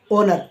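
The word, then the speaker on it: honour: अब आइए नेक्स्ट जानते हैं कि एच कब साइलेंट रहता है वर्डों के अंदर तो यहां पर एग्जांपल लिया मैंने सबसे पहले ओनर एच ओ एन ओ यू आर ओनर यानी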